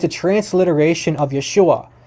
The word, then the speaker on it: Yeshua: It's a transliteration of Yeshua. So in Greek doesn't have native letters to maintain the exact pronunciation. So there's no sh sound in Greek.